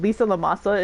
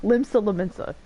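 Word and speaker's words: Limsa Lominsa: The safety and security of I almost said it wrong. Limsa Laminsa's citizenry are, of course, of paramount concern. I was watching Asmongold last night, and Lisa Lamasa is just in my head. But Limsa Laminsa. Sorry.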